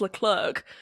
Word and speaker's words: Leclerc: looking Charles Leclerc.